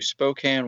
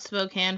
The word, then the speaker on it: Spokane: I am from Louisville, Kentucky, and have recently transitioned to Spokane, Washington within the last month. I have a question. When you heard about Spokane first, did you pronounce it Spokane or Spokane?